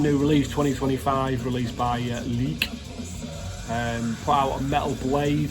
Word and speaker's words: Lik: I know it's not pronounced Lick in English. Leak.